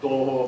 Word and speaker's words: Touhou: Quick note about romanization: I'm gonna pronounce "Touhou" the Finnish phonetic style. It's really called TOOHOO PUROJEKTO but let's not go there.